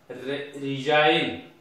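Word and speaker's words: resign: For example shine S आई जी टा में नाही बोल भाबी पढीबा साइन, सेमते ठी जी नाही बोल पढीबा रिजाइन, दिस इज रेन।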